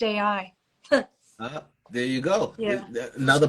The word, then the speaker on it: Io: called Io, or it's pronounced AI. Hmm? One of Say Jupiter's that again. moons is Io, which is pronounced AI.